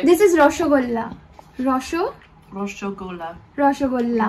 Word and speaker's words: রসগোল্লা: Roshogola. রসগোল্লা। Roshogola. In the la put la.